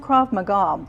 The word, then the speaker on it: Krav Maga: Pronounced Krav Maga.